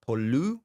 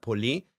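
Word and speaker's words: πολύ: has no accent right then you have poli pi right which is you know not pu but poly what would that what does that mean?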